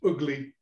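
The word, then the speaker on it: Ugley: i'm sorry ugly where i come from that's pronounced ugly um and i played there again recently just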